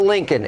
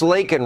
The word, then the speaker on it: Laken: It's not Lincoln. It's Laken Riley.